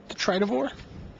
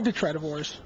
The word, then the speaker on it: Detritivore: Detritivores? Detritivore? Is that how you say it? I think it's Detritivore. Detritivore, yeah. Detritus.